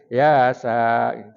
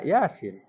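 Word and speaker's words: يس: Ya, kalau dibaca sambungnya yasa. Padahal kita bacanya yasin.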